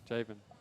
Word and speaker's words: Javen: Probably like rhymes with Jason. Javen.